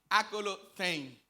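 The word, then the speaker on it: ἀκολουθεῖν: Nosotros vamos a encontrar en el verso 12 que la palabra que utiliza el Señor Jesucristo para seguir es akalothein, así se pronuncia, akalothein.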